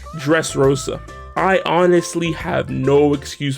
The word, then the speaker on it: Dressrosa: ] it up so the last word is dressa rosa which is actually pronounced dressrosa i honestly have no